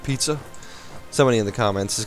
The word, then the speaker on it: Pisa: Why does Savoy owns Pisa? Alright. Actually, it's pronounced pizza.